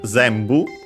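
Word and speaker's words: 全部: photos, then we have zenbu, which is another Chinese compound, which means all. It's technically a noun. All, entire, whole, all together. Should be actually accented on the first syllable.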